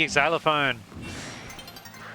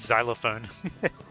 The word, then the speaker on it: xylophone: Shout out to the exylophone. Also, I don't know why I call it an exylophone. Pretty sure it's just called xylophone. I pronounced the X as like its own word, its own syllable.